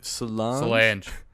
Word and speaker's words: Solange: I don't know how to pronounce Beyonce's sister's name. Solange.